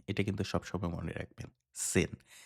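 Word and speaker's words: zehn: এখানে জি দিয়ে জার্মান কথায় কিভাবে লিখে? জেন। জি দিয়ে লেখে, রাইট? জি-ই-এইচ-এন। ওকে? কিন্তু উচ্চারণের ক্ষেত্রে আপনাকে সবসময় আ সেন এরকম বলতে হবে। ওকে? জার্মান ভাষার যে জি এর যে উচ্চারণটা এটা অ্যাকচুয়ালি সি এইরকম কিছুটা।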